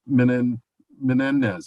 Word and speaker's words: Menendez: Mrs. Menendez, am I pronouncing that last name correctly? you're doing great.